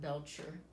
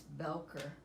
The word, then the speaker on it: Belcher: Um but I'm glad I wrote the address there, and I always pronounced it Belcher Drive, and I thought that was an ugly name, but it's Belcher.